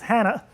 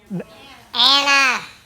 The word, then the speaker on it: Anna: the cartoon name was Hannah. Anna. What? Hannah or Anna? Hannah? Anna. Anna. With I was your New York one. accent. Yeah, Anna. the H is silent.